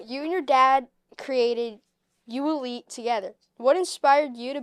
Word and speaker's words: ULETE: So, you and your dad created you Elite together. What inspired you to build something like this in South Lake? Yeah, great question, Liam. Uh, so it's pronounced ULite and it means the athlete in you.